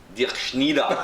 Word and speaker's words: Dirkschneider: How do you pronounce it? Dirkschneider.